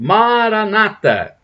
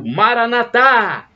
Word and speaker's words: Maranatha: por são paulo a maranata assim se pronunciam os protestantes com a tônica na penúltima sílaba ou maranatha com a tônica na última sílaba são os católicos que